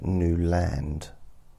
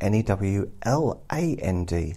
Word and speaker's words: Newland: And he pronounces it Newland so that people know how it's spelt.